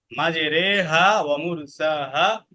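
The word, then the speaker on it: مجريها: শুধু একটা জায়গা আছে মাজেরেহাসাহা ইন্না রব্বিলফুর রাহিম তো মাজেরেহা এখানে রে পড়তে হবে ঠিক আছে ঋ পড়া যাবে না মাজে রেহা এটাকে বলা হয় এমালা বুঝছো এমালা মানে কি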